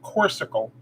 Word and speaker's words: Corksicle: using my um corksicle they pronounce that corsical corsical mug this is um